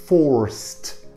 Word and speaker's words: forced: Are forced. أو دي اللي ينطق تي. Forced. ها؟